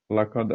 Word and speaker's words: laqad: Nah, di ayat keempat ini, ya, ini, laqad, ya, harus dibacanya mantul, ya, laqad. Nah, kemudian ada huruf kaf, mana kaf? Khalaq, nah, juga harus mantul bacanya.